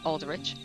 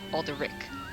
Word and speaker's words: Alderic: duty this day corporal Aldrich I keep messing up my own character's name is alderic the H is silent because I thought they